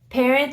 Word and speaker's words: parent: going to be parent parent is going to be again you don't pronounce the T and those are words